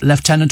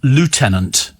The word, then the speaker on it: lieutenant: which worked quite well how' you pronounce leftenant in British and American English well it's leftenant or lieutenant in America I know this I